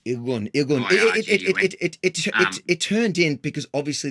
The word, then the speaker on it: Irgun: Ergun, am I pronouncing that correctly? Irgun.